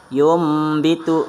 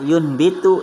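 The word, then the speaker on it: يُنبِتُ: Kayak contohnya di sini yumbitu, bukan bahasanya yunbitu tapi yumbitu. Dan selanjutnya juga fanbid, bukan bahasanya bukan bahasanya fanbid tapi fambid.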